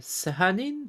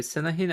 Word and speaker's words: Sanahin: I think we agreed on Sahanin. Sorry, Sanahin. I forgot how to pronounce that.